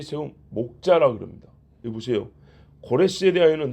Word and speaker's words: 고레스: 고레스. 서양 사람도 이 사람을 키루스라고 합니다. 키루스. 본래 발음은 코레스고 우리는 부드럽게 고레스라고 영어식으로 키루스라고 그랬는데 키루스 대왕이라고 합니다.